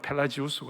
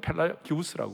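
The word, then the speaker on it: Pelagius: 하나는 펠라기우스라는 사람이 있고, 미국 발음으로는 펠라지우스고 한국은 펠라기우스라고 그러고, 어거스틴이 있었어요.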